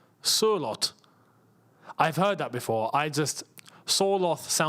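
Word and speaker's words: Sørloth: Sorloth is pronounced Surlot.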